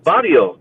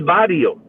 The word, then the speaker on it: barrio: It is a Spanish word, barrio. No, barrio. Yes. No, it's barrio. That's Spanish. El barrio. That's that's how you say it. Mm. And it's male, so it's a slummy neighborhood. It's not la barria. It's el barrio. So Barrio. Yes. No, Except that barrio. what? Barrio. But barrio. What's barrio? It's an Australian trying to pronounce barrio. el barrio, bro.